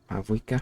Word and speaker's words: Mavuika: I still don't know how to pronounce her name. Mavuka? Mavuika?